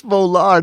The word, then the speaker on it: Volar: It's Volar, not Valor. Volar.